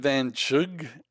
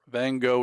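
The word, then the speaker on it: Van Gogh: Vincent Van. It's like Chu. Vincent Vanug. Yeah, that doesn't sound like a famous painter. Van Go is the way to go. That's Vincent Vanug. A hard G.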